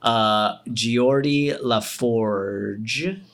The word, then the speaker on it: Geordi LaForge: He plays Geordi LaForge, if I'm not mistaken. That's Nailed how it. it's pronounced.